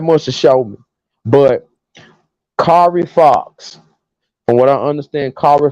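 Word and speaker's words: Kari Faux: Kari Fo.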